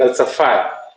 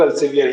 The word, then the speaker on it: Elsevier: International, उसमें भी ELSEVIER, तो उसको बोलते हैं एल्सफायर। लेकिन बहुत से लोग एल्सेवियर ही बोलते हैं। इट्स ओके, कोई प्रॉब्लम नहीं है, प्रोनाउंसिएशन के ऊपर कोई डिस्कशन नहीं करना, बट you should know exactly how इट is pronounced.